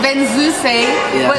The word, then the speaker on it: Venzuse: It's Venzuse, without the apostrophe, as though it's written in French. Yeah. But you have to pronounce the E at the end.